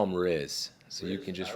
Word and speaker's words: Riz: We call him Riz.